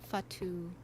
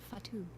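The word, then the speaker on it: Fatou: I know Fatu which is how she pronounces her name. I didn't realize I've always been pronouncing it wrong but Fatu.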